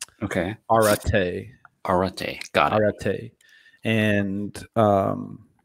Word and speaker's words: Arete: It's pronounced R, like the letter R. Okay. Arete.